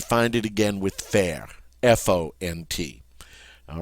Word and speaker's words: font: And look at the form of faire that goes with these subject pronouns, F-O-N-T, font. We don't pronounce the T, and the O-N is that great nasal sound, on.